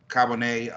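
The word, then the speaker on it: Charbonnet: I do like Zach Cabonet on, that's how you pronounce it, Seattle.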